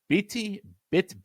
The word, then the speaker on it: bitte: I'm going to mispronounce this pronunciation. It's bitte, B-I-T-T.